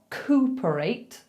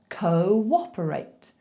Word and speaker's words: cooperate: Now, it's not cooperate, although it does look like cooperate. We have to insert a little w in there, okay? So instead of saying cooperate, we say cooperate.